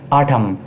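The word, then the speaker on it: autumn: H silent है। ऑटम।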